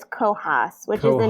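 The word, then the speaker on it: Cohos: so it's c-o h-o-s so it looks like it's going to be co-host but it's cohass which is the name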